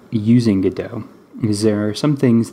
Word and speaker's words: Godot: the play Waiting for Godot so that's how I'm gonna be pronouncing that I am NOT going to be saying Godot ok cool so if